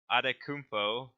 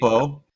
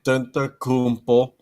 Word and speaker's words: Antetokounmpo: So we're starting with MVP, and our wheel decided to nominate James Harden, Giannis Adetokounmpo, if I can pronounce that correctly. Antetokounmpo, Yeah. Antetokounmpo.